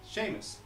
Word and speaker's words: Seamus: Is that how you pronounce it? Seamus? Seamus. Right? It's a SH sound, but without the H.